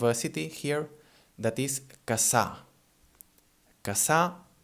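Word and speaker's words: Cassà: city here, that is Casa. Casa, it's spelled C-A-S-S-A. And this we already said, again, in the first podcast. It sounds, well, like a long S, we can say.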